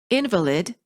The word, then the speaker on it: invalid: Stressing the wrong syllable sometimes creates misunderstandings because people think you're pronouncing a completely different word.